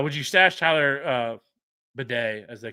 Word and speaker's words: Batty: But anyways, like everybody always called him Tyler Tyler Batty. Like I never heard anybody ever call him Tyler Bedet, but apparently he says that's how it's actually pronounced.